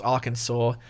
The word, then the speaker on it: Arkansas: All right, we're going on to Arkansas. I believe that's how that's pronounced. Arkansas. I'm just kidding. I know how it's pronounced. For some reason, it's Arkansas, but I mean, it's an S at the